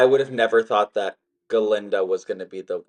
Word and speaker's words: Galinda: have never thought that galinda was going to be the well at the time the silent the g is silent in honor of Dr